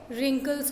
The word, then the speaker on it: wrinkles: Okay, then wrinkles नहीं होते, wrinkles होते हैं.